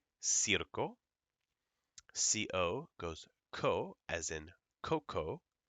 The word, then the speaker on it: circo: SE as in Cerro c i goes c as in Circo goes CO as in Coco CU goes KU as in Kubo so we have casa cero Circo and again please don't